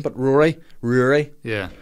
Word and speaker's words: Ruairi: name you know a basic English name but Rory Rory yeah spelled Rory but it's really exactly and I mean phonetically that's easy to confuse and then there's